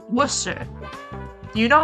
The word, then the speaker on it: Worcester: that's how it's spelled when people say Worcester and they it's Worcester like that's how they say it it's Worcester but it's spelled like warchester and every single time